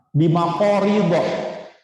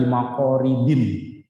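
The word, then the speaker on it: بمقاريض: Bimaqorido, dengan menggunakan gunting-gunting. Maqorido ini isim ghair munsharif ya. Jadi membacanya walaupun ada bi, jangan dibaca bimaqoridin. Bimaqorido.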